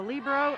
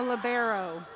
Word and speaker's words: libero: do on the floor there's two pronunciations greg there's a libro and a libero i prefer the libro pronunciation and she's allowed to